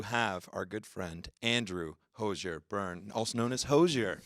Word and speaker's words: Hozier: our french-canadian fans as well that it's still pronounced hozier yeah it's a nice hard are on that